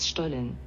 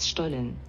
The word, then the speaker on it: Stollen: is about stolen and i want to pronounce it in german just to show you how fancy i am and here we go why not stolen by not stolen how did i do